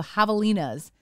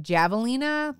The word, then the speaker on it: javelina: wild pigs are called javelinas but it looks like javelinas think you know like the Jay sounds like an H and so that was